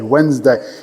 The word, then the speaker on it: Wednesday: O único que me pega um pouquinho, porque eu sempre falo Wednesday. Ah, não falo dele. Wednesday. Eu já ouvi professor de inglês a pronunciar o D. Muito mal.